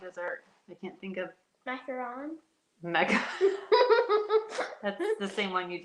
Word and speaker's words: macaron: i can't think of macaron mecca the same one you just said it differently no macaron is a different it's not it's not a macaroon it's the same thing pronounced differently okay i bet you it's